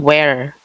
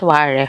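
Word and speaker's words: ware: name of the ceramic so it's Pon Chong wear it's not war where is in English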